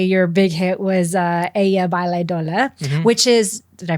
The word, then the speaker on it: Ella Baila Sola: Um you know, obviously your big hit was uh Ella Baila Sola which is Did I pronounce that correctly? Ella Baila Sola. Oh, Sola. Sorry. Ella Baila Sola which I actually know means she dances alone.